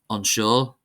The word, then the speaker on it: anseo: As in any language, of course, there are always some exceptions, and here are some common words that are exceptions, that is, they're not stressed on the first syllable. Anseo, anseo, meaning here.